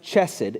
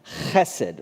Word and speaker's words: Hesed: It's not pronounced Hesed, and it's not pronounced Chesed. It's actually pronounced Hesed, right? We don't have that sound in English, and so that's why sometimes translators put it differently.